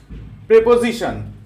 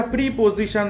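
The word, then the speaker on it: preposition: Next, প্রেপোজিশন। উচ্চারণটা প্রিপোজিশন না, উচ্চারণটা হচ্ছে প্রেপোজিশন।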